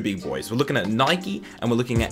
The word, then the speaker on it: Nike: We're looking at Nike and we're looking at Adidas. And yes, I pronounced both of them correctly. I don't give a shit how you pronounce it. It's Nike and Adidas, and if you don't like it,